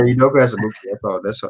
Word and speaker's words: Udoka Azubuike: I was not going to be close on how to pronounce that, so God bless you. Yeah, Udoka Azubuike.